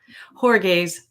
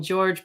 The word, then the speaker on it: Jorge: And you have some interesting information about possibly what could have transpired around Jorge's death. I don't know, a lot of people call him George, but apparently his name is Jorge.